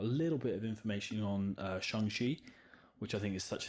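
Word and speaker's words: Shang-Chi: also love saying shanghai i always thought it was pronounced shang chi but uh kevin feige pronounced it shang shi so i'm rocking with that um i'm really excited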